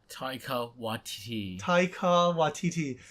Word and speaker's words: Taika Waititi: And it's voiced by the director, and I cannot pronounce his name. Ernest, how do you say his name again? Taika Waititi.